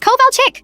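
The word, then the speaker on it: Kovalchik: It's Coal Chick?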